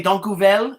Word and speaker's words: dank je wel: Okay, and I could say dank u wel. Is that no, dank u wel? How do you say thank you Sorry? in how do you say thank you in Dutch? Oh, dankjewel.